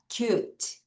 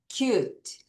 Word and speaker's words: cute: cute. 다시 cute. 한 번 더. cute. 여러분 이거는 뭐냐면 이가 소리가 안 나는 거예요.